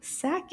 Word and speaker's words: sac: Sac is also a word with the a sound.